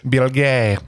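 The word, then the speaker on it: Bilge: Bill Gay from New York magazine.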